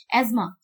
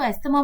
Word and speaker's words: asthma: एज्मा, लोग जनरली इसको एस्थमा बोलते हैं, but this is the right pronunciation is एज्मा।